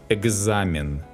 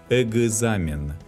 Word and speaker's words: экзамен: In this case, the letters K and G have the sound G. Анекдот, к берегу. Также, экзамен, когда, Багдад, Вологжанин, зигзаг.